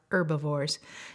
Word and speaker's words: herbivores: and that makes them herbivores there's a silent H in that word herb if bored herbivores it's what butterflies are butterflies are herbivores here's the next scientific